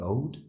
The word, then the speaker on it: Oud: So this is the Kiefhoek Social Housing Complex, and it was designed by JJP Oud.